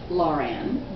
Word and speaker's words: Laura Ann: It will make him stop, pleaded Laura Ann, always pronounced Lauren, 3 years older and much more sophisticated than her exuberant little cousin.